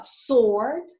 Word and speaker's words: sword: persuade as wage sweep the letter w is not pronounced in two answer pay attention because it's a quite uh commonly encountered mistake again sharing my experience so it's answer uh sword who hero it is